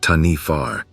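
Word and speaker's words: Taniwha: In Maori legends and folklore, there is a creature called the Taniwa, pronounced Tanifar, which guards certain areas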